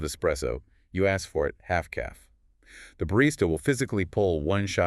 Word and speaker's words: Half-caff: Half-caff, it rhymes, which makes it easy to remember.